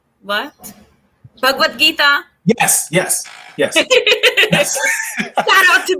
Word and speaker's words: Bhagavad Gita: Bhagavad? How do you say it, Pratibha? Bhagwan? What? Bhagavad Gita?